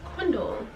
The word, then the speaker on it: Quindel: So most people call me Quin, but my name is Quindel, pronounced quindel.